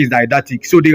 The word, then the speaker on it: didactic: lesson, we say is didactic. So the right option there, the right answer is D, didactic. You can pronounce the word didactic or didactic. The British way of pronouncing that word is didactic.